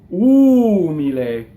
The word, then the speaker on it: umile: so and so on now the way this word is set it looks like the accent is on the e but in speech it's ooh me lay right now because she